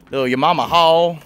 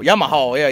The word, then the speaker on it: Yamaha: But show y'all a little setup here, the little Yamama haul, or others don't know, it's actually pronounced. I can't even say it now because I call it Yamama haul. Yamaha, yeah, Yamaha.